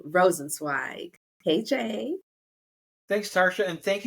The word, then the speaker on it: Rosenzweig: founder of the birth parents finder Mr rosensweig KJ thanks Tasha and thank you for pronouncing my last name correctly because you know